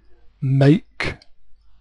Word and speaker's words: make: watch is 12 noon make again the E makes the a say its name a make I will make the T